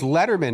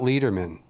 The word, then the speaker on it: Letterman: So it's Letterman, not Lederman.